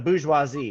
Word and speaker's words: bourgeoisie: the Borgo more GOC but we pronounce that how any know how to say that French word visualize II yeah the booze huazi those are the owners